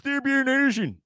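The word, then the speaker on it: Thorbjørn Olesen: For all of you that aren't aware, it's Thierbjørn Nielsen.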